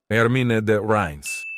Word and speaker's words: Ermine de Reims: Hermine de Reims.